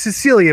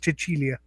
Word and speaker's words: Cecilia: It's Cecilia, but in Italian it's Cecilia. I learned that from an Italian woman.